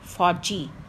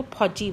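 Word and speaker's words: फ़ौजी: ऐसे कमबख्त, फौजी, यदि बिंदी ना लगाएंगे तो फौजी बन जाएगा, दैट इज़ रॉन्ग प्रोनाउंसिएशन। ऐसे तेज़, तेज नहीं है तेज़।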